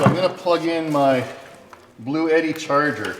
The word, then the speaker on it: Bluetti: gonna plug in my blue Eddie charger I was actually saying the name wrong blue Eddie not blue key mark apologies to Blue